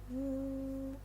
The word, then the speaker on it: u: The fifth one is wu. It's like the first syllable of woman.